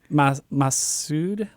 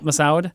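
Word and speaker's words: Massoud: guy that plays Aladdin I don't know how to pronounce his name mana Masood mana Mossad Mossad yes he is one of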